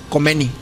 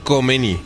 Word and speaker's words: Khomeini: Es una pronunciación que nosotros no podemos hacer. Es como y nos vamos a negar a tratar de hacerlo. Es como que te ahogas.